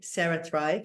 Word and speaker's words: CeraThrive: Yeah, so it's CeraThrive, like you say, it's spelt like the brain way. So it's CERA, CeraThrive, like cerebellum or cerebral.